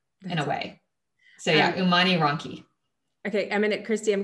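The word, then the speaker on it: Umani Ronchi: in the central part um it's called an umani ronki that it's spelled u-m-a-n-i and then r-o-n-c-h-i for all of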